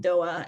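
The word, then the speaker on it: Doğa: do, given where we're speaking today, connect with Doa, and her name is spelled D-O-G-A.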